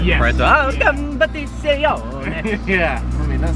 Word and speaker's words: Competizione: competizione. You almost have to say it Italian. Yes. For it to, competizione.